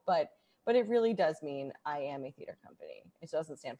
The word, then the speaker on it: IAMA: Tell me a little bit about IAMA. First of all, what does IAMA stand for? Okay, so it is pronounced I am a, and it literally just means I am a theater company.